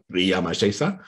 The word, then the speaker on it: Ramses: So then what you can do is take those names, and names in ancient Egyptian, like Ramses or Ri-a-ma-se-sa, is actually a little sentence.